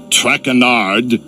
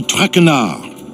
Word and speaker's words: Trenard: butchered while I eat as for my name not track andard it is trenard trenard trenard trenard enough what can I do